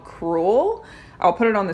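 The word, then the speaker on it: crewel: it's exposed this type of work is called cruel I'll put it on the screen it's spelled CR a wel if you ever see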